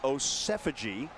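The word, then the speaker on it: Osemwegie: He's Osefaji like is the latest.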